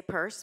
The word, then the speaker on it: Peirce: well there's several sources that say he pronounced it P rsse and from the early genealogy I have a geneal genealogy of the purse family history their their name in Devon was P RS and so I think that's where the original came from and we we um we're trying to say purse because that's how it was and when we went